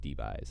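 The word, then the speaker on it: debye: It's measured in this thing called dBys. That's how you pronounce that.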